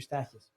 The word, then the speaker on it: Stakus: my name is stakus people mispronounce it all the time and I I never correct them but you make it a point to say that the end is not silent oh yeah I yeah